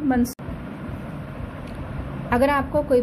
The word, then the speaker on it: Mansoor: Like M-A-N, मन, S-O-O-R, सूर, मंसूर.